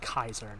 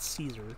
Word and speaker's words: Caesar: kaisar yeah that's right they say kaisar not Caesar kaisar they say the hard K yeah dislike how Matt